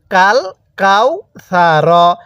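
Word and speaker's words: الْكَوْثَرَ: পড়তে হবে ইন্নাতাইনা এরপরে কাফ লাম জবর কাল এই সাকিনটা লামের উপরে আলিফ এর উপরে না তাহলে কাফ লাম জবর কাল কাফ ওয়াও জবর কাউ কাল কাও ছা জবর ছা র জবর র কাল কাও ছা র কিভাবে পড়বো কাল কাউ ছা এখন অনেকেই হয়তো বলবেন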